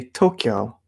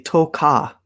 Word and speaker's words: Tokyo: how you say it we say tokyo people think i say toka i have no idea where they're getting it from maybe i'm saying it too fast tokyo like kyo very very specifically kyo tokyo tokyo not toka anyway waiting for some